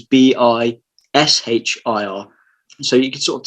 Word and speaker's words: bichir: Hilaire's first publication, because the studies that came out then, there was one that spelt Bichir as in, it was Bishir.